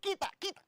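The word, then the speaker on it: quita: I was like, kita, konyo. Kita is like stop it. Uh-huh. It's spelled as quit with an A.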